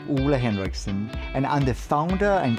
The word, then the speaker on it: Ole Henriksen: my name gets pronounced in the most crazy ways but my name is actually a henriksson and I'm the founder